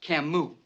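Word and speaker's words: Camus: cus The Stranger yeah he's French and is pronounced Camu man must be an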